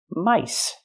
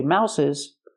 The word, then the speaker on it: mice: And this word, mouse, you have 1 mouse or 1, 2, 3 mice. Don't say mouses, 2 mice, 3 mice, 4 mice. The pronunciation changes for the plural.